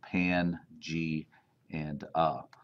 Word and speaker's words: Pangaea: It's pronounced Pan, G, and A.